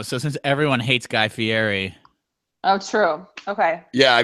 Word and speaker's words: Fieri: Like in the past couple of years, he has gone to try to pronounce his name like more authentic Italian. Fieri.